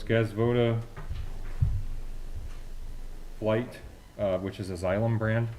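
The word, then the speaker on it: Flygt: Okay, the second one is from, I believe this is pronounced Flight, F-L-Y-G-T.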